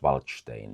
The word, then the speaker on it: Waldstein: With an S, even though the Germans would pronounce him Wallenstein. And the Czechs would talk about him about Waldstein.